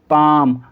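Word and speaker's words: palm: एल दे रखा है, तो इन सही वर्ड्स के अंदर एल को नहीं पढ़ा जाएगा, यानी एल साइलेंट है। तो हम इसको कैसे पढ़ेंगे? काम, बाम, पाम, आमंड। ठीक है, कुछ लोग उसे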